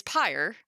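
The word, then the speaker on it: πῦρ: So in Greek, the word for Latin, in Greek, the word for fire, is pyre, but it's spelled P-U-R.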